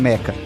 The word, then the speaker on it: meca: caranguejos e os metas alguns chamam de mechas mas eu consultei a pronúncia correta é a meca são duas figuras tradicionais